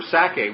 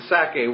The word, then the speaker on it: Sacae: region, of course the Sacae was, again, I just picture the word Isaac, and Sacae is S-A-C-A-E. It has the syllable of sac, Isaac or Itzhak right in it.